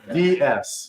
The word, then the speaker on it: DS: Also DS. Yeah. Pronounced D's.